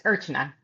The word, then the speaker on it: Archana: Close. It's Urchina. Urchina.